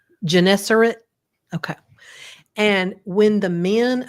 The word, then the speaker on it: Gennesaret: Gennesaret. Gennesaret?